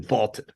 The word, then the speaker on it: VLTED: That is on the Vaulted app, VLTED, pronounced Vaulted, a new sports prediction app that turns your opinions into facts.